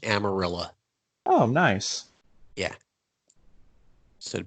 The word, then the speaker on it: Amarillo: there before it became Texas my family's from Amarillo I'm sorry amarilla it's pronounced amarilla oh nice yeah so to put that out